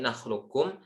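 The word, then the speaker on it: نخلقكم: Beliau berpendapat kata seperti ini, nakhlukum, sifatnya itu tetap, sehingga kita baca idgham naqis, artinya qafnya tetap tersisa. Cara bacanya alam nakhlukum, ke qaf dulu baru ke kaf.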